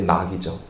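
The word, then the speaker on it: knock: 그래서 A는 ask, S는 seek, 그리고 K는 묵음입니다. 그래서 K인데 낙이죠.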